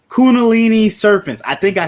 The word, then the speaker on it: Kundalini: The Kalandi serpent? It's Kundalini serpents.